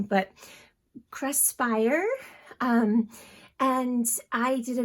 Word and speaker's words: Craspire: it right um it's it's the word create and inspire kind of jumbled together and i feel like i'm pronouncing it wrong but cresspire um and i did